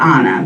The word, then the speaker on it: Anna: looks like anna but i pronounce it anna because i'm hispanic that's how you would say it in spanish both of my parents